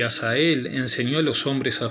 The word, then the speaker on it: Azazel: Y dice: Tú has visto lo que ha hecho Asael. Aquí quiero mencionar que hay una comita, entonces esto se pronuncia como Azazel.